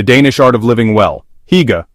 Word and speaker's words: Hygge: Hygge, pronounced Hygge, extends far beyond the international trend of cozy blankets and candles.